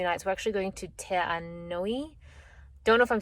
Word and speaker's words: Te Anau: Te Anui, not Te Anau. Te Anau. Te Anau. I don't know why he's saying ui, but maybe it's the U at the end.